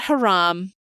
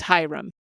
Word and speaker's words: Hiram: And we're not asking for you to go Hiram or anything like that. We're just looking for you to pronounce it as Hiram. His name. His name is not Haram. His name is not Hiram. His name is Hiram.